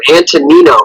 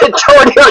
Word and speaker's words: Antonino: That is the actual name, Antonino. Yeah, because it's Antonino. I don't know why I'm terrible at pronunciation of anything. So, dude, I'm going to tell you the truth. Until now, I didn't even know. I thought it was Antonio too.